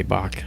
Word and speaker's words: Bok: It's B-O-K, Bach, Bart J. Bach. His name is spelled B-O-K.